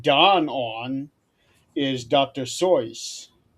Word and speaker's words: Seuss: That's Zoe. That's the correct pronunciation of his name.